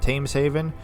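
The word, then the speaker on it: Thameshaven: tames Haven he said I want to say themes Haven but tames Haven um I could totally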